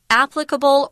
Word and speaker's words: applicable: Applicable or applicable, both of those pronunciations are correct. Pick the one you like.